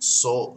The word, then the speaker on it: Sol: Now, it could be pronounced Sole.